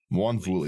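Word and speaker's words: Mwonvuli: How do you pronounce this, Slothy? Wanvuli, there we go.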